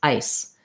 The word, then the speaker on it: ice: eyes, and in ice, the vowel is going to be shorter and I'll have a strong S, ice.